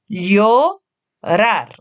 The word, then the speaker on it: llorar: C'est le verbe llorar. Tu peux prendre le temps de bien distinguer les syllabes. Llorar. Et ensuite, de lire l'intégralité du mot. Llorar.